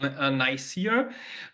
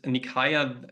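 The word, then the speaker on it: Nicaea: nikaya in Asia Minor in the English speaking World often it's um it's it's pronunciated um ner but uh the uh the Greek uh pronunciation is nikaya that's why I use that pronunciation um and there took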